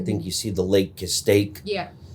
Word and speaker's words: Castaic: I think you see the Lake Castaic. Yeah. If I said that wrong, how do you say it? Castaic. Yeah, I was like, there's one more Yeah, yeah. syllable. You had one less syllable.